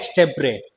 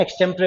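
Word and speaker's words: extempore: इसे बोलते हैं एक्सटेम्परे। प्रोनाउंसिएशन आ रहा है ना, एक्सटेम्परे होता है ये, ठीक है जी।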